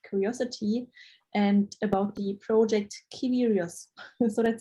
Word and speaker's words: Kiwrious: uh curious i mean it's actually supposed to be curious change c with k so it's it's pronounced as curious the curious science experience